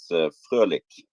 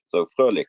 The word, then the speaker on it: Fröhlich: It's Fröhlich, more like a German sound. The thing going through the O is just another, yeah, it's a particular Norwegian and German character. So Fröhlich, it, means I have tried.